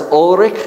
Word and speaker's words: Ulrich: was yes very good Ulrich you got to roll your r's Ulrich zingli was the kind